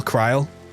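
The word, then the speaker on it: Krile: Rhymes with Kyle, Cryle.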